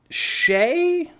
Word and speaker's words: Shea: But is it Shay? I assume Sheay. You're gonna make me look it up now, aren't you? Hang on. S H E A Wingum. Yeah, it's Shay. It's pronounced Shay.